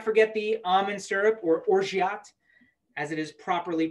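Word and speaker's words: orgeat: and we can't forget the almond syrup or orgyat as it is properly pronounced and three quarters of an ounce directly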